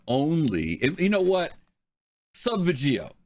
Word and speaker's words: Subvegio: and you know what sub veggio let's just say it is that's how you pronounce it that's how you